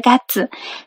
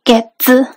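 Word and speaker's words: 月: como enero, febrero, marzo, el kanji de la luna se va a pronunciar gatsu. Pero cuando decimos este mes, el mes pasado o el mes que viene, siempre se va a pronunciar como un getsu, para que se den cuenta.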